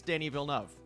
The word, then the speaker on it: Denis Villeneuve: I went back and forth on so many different things, and I just looked it up, and I think it's Denis Villeneuve.